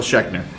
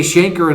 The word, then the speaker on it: Schenker: Just listen to some Michael Schechner. Okay, you know what? I was 13. I was 13. I was 13, Dad. All right. It's not like I ever heard anybody say Schenker in an interview.